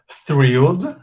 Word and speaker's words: thrilled: I can say thrilled. Aqui tem que pôr a língua entre os dentes, tá? Ó.